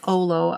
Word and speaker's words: Olo: up with the heart and it is olo i checked with their company to make sure i'm pronouncing it right and i think i've got it right saying olom okay so as far